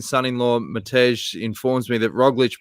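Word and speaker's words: Roglič: mataj informs me that roglich pronounced roglish means croissant speaking of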